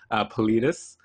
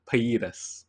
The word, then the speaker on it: pallidus: So it is composed of the caudate nucleus, the putamen, and the globus, I almost Spanish pronounced that, pallidus, not paidas, right?